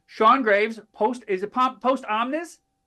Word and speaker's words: Post Omnis: Post is it Post Omnis? Post Omnis. Yeah, Post Omnis. I I misspelled I mispronounced it before.